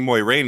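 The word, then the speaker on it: Moiraine: Moraine Moraine yeah okay so I've been saying Moy rain in our podcast because that's how they did it in the first season and I trained myself to match the show but now I'm like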